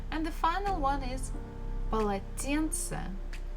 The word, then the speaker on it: полотенце: And the final one is полотенце, полотенце, a towel. So again, the first two syllables, pa, la, they are not stressed.